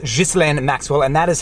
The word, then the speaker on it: Ghislaine: things before we get started I know people pronounce her name Gillian Maxwell but I am from Quebec it is pronounced Geist LAN and Maxwell and that is how I'm gonna